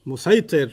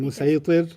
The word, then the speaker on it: مسيطر: Musaytir. Yeah. And he says, you said musaytir. And he says, Yeah. no, it's sad, but it's pronounced sin.